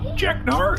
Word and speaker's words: Jeknar: Jeknar, is that right?